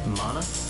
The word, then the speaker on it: mana: Mana field. This is the mana field. Here, each gem you clear will yield a sparkling 1 mana point regain. Mana?